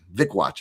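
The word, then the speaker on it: Wikłacz: Uh Vickwatch. It's like it's like dickwatch with a V. Vicwatch apparently is how you pronounce it.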